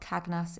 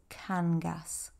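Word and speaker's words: Cangas: it's stunning uh so it's not kagus it's Kangas canas theise um whenever you see an accent like that that's where the stress is on the word so Kangas on um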